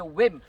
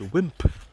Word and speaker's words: wimp: don't be such a whmp the word is wimp not not whim why is it that the Asians can't pronounce the last letter in a word black Breeze here black